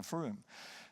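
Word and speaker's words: Frome: If you want to Google this later, Froome, by the way, is spelled F-R-O-M-E, pronounced Froome.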